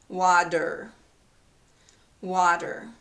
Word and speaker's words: water: okay here's the word water it has a t in the spelling but this is pronounced as a d okay there's a vowel